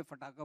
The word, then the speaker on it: पटाखा: उन्होंने बोला बस प्रॉब्लम एक ही है, ये सिर्फ पाकिस्तान में पटाखा बोलेंगे, यहाँ सब पटाखा बोलेंगे, फटाखा बोलेंगे. सो क्योंकि पंजाब में तो फटाखा कहेंगे. तो इसका जो सही जो प्रोनाउंसिएशन है वो सिर्फ पाकिस्तान में होगा.